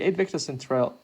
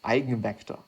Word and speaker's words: Eigenvector: The 8-vector it's not 8-vector vector, it is Eigenvector. Or I guess it is Eigen, I'm just gonna pronounce it in a German way.